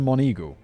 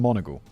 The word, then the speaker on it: Monegal: life liam nielsen note i thought this name was pronounced mr mon eagle as in the bird it turns out it's more like mr monagle okay well from now